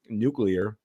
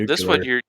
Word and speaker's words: nuclear: And Well, nuclear, this one I'm in adding a syllables syllable. that don't exist. I've added a syllable here.